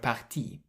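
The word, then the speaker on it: partis: on the end of parti and again this s is silent but in writing you can see it.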